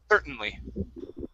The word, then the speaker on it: certainly: to say certain certainly you're going to go right to the n certainly centrally okay skip the t we don't pronounce the t at all certainly certainly yeah yeah